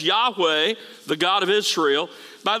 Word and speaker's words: Yahweh: that that is the personal name of God pronounced Yahweh in older translations it was sometimes Jehovah but it's God's personal name YH wh in